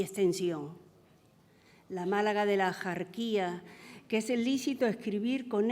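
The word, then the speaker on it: Axarquía: modo antiguo, pero que es bárbaro pronunciar con el sonido de la X actual, porque en lo antiguo esa X se pronunciaba como J.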